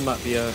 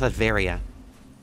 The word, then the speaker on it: Latveria: He's from Latvia and then took over. Okay. It's pronounced Latveria.